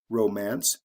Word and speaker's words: romance: adding the IC ending romance romantic we also have a shift in the stress pattern Romance the first syllable is emphasize romantic the second syllable is emphasized why Thrifty glossy lazy